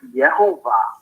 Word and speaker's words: Yehovah: Remember, how we have Jehovah and all those, but in Hebrew it's Yehovah, right?